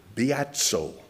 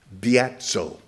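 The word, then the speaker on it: βιάζω: The same Greek word, biatso, beta, iota, alpha, zeta, omega, with the accent on the alpha, biatso.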